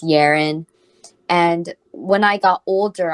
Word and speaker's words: Yerin: them um you know it's easy to pronounce my name if you think of it as Aaron with the Y in front and then that makes it yarn and then people be